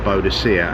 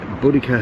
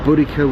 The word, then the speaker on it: Boudica: going to be called buddhica or bodacia as it sometimes wrongly pronounced I don't know how they worked it out but it's a pagan name so it would have been bloody cup and boudica herself she had her